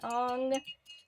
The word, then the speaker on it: Aang: after watching Avatar I I pronounce his name Eng because that's how they stayed in the show but I know it's supposed to be on but I don't know